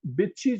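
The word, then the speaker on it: Bitikchi: हमारे पास पहले दफा बिछी जो है वो इसके नाम से आया बी आई टी आई के सी हा आई बट इसमें के साइलेंट होगा सो बिछी जो है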